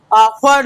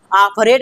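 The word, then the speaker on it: offered: इसी तरह से O double F ई आर को sorry O double F इ आर ई डी को हम लोग क्या पढ़ेंगे? ऑफर्ड पढ़ेंगे। क्या पढ़ेंगे बच्चों? ऑफरेड नहीं ऑफर्ड पढ़ेंगे। बोलो मेरे साथ ऑफर्ड ऑफर्ड।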